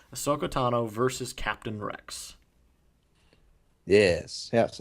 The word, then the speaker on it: Ahsoka Tano: one for the light side we had a sooko Tana Tano wow can't even say her name Ahsoka Tano versus Captain Rex yes yes and this was